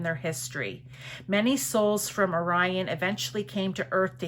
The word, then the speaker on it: Orion: I always want to say Orion and it's Orion. I don't know why. It's one of those words that you know how to pronounce it, but never say it right.